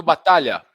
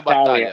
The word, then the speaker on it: Batalha: Ricardo Batalha. Ricardo Battaglia. Batalha. That's it.